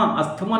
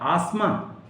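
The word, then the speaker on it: asthma: Hustle, आस्थमा, अस्थमा नहीं बोलते हैं, टी ड्रॉप कर दिया जाता है। आसमा, अस्थमा को हम क्या बोलते हैं, आसमा।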